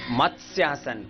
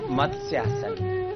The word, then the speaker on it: मत्स्यासन: मत्स्यासन। कुछ लोग इसको गलत पढ़ते हैं, क्या बोलते हैं? मत्स्य। गलत प्रोनाउंसिएशन हो गया ना। सही प्रोनाउंसिएशन क्या है? मत्स्यासन।